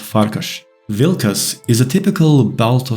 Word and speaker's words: Farkas: have names referencing wolves farcus means wolf in Hungarian and I believe it's pronounced farkash vilus is a typical